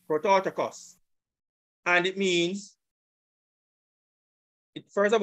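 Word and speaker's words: πρωτότοκος: This is the pronunciation of the Greek. Strong's G 4416. Prototikos. Prototikos. Prototikos.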